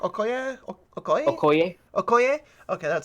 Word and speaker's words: Okoye: talking with like I don't know how to pronounce her name but they'll call it in chick okay yeah okay um corny Okoye okay that sounds right okay hey um freakin